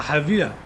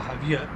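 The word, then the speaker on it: Javilla: We'll be flying from Tambor directly to La Havia Airport. It's spelled J-A-V-I-L-L-A. I assume it's pronounced Havia.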